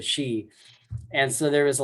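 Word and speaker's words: Sidhe: And then he also mispronounced the she. I think he was calling him the Seath or something. Shift. Yeah. Yeah. And he's like, oh no, it's the she.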